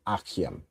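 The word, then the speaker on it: אַחִים: And if you wanted to say the plural, it would be achiam. Okay, so achiam is how you'd say brothers.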